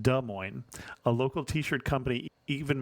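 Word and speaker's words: Des Moines: Iowa podcast but being born and raised in De Mo I must say it was like fingernails on the Blackboard every time I heard de Mo it is pronounced d Mo a local T-Shirt Company even makes fun of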